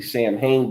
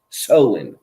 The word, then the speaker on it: Samhain: It's spelled like if you were to read it phonetically, Samhain, but it's actually pronounced Soin.